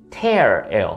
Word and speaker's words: tear: 근데 발음이 달라요. 눈물은 tear, 그리고 찢김은 tear예요.